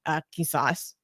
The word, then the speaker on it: qisas: concept in Islam called, I can't pronounce it right because I can't do the sound in the back of my throat. Qisas.